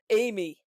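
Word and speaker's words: Ami: I am Amy.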